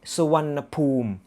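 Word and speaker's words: Suvarnabhumi: rational explanation why you the written form is wanna boo me but it should pronounce like sawanapum well well well that's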